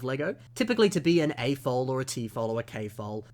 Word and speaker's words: AFOL: to the next term typically all Lego acronyms are said as words and not as the individual letters so for example it's pronounced a foal not a fol but again say it